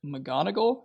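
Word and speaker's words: McGonagall: conversation between Dumbledore and Professor McGonagal, is that how you say that? I am disappointed in how accurately you pronounce that name.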